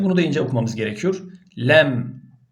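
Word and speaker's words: ل: da ince okumamız gerekiyor lem la ilahe illallah le o zaman la demeyeceğiz yani genelde kelime-i Tevhit bile la ilahe illallah Yani doğru değil Şimdi çok manayı değiştirmiyor aslında ama ben güzel okumak istiyorum tecvitli okumak istiyorum Eee yani Kur'an'ın indiği dönem gibi E bir hassasiyetle okumak istiyorum derseniz buna la demeyeceksiniz bu ledir Mim arkadaşlar me diye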